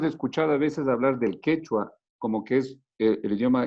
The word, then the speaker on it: quechua: Se pronuncian ellos también, es como un poco más gutular, quechua.